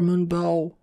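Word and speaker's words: Moonbow: that stuff and the fifth pony is easy moon bell or moon bow as she pronounces it this is the only unicorn in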